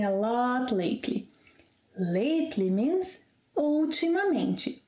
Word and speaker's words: ultimamente: Lately means ultimamente. Ultimamente. Five syllables. Ultimamente.